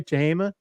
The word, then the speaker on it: Tehama: Travis, this is at in Red Bluff, California at the, did I say it right, by the way, Tehama? Yeah, Tehama County Fairgrounds.